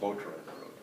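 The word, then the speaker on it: Boterenbrood: How do you pronounce it? Boatron Road.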